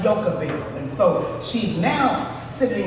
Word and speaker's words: Jochebed: In the Bible, her name is spelled like Jochebed, but it's pronounced Jochebed.